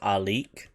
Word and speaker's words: Alik: We've got sigil, like our Mandalorian sigil for the way, which is Alik, not to be confused with Alit family. Alik, A-L-I-I-K.